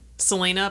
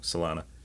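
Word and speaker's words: Salina: Selena by the Avet Brothers. You said it wrong. Salena, I usually screw something up in this stage.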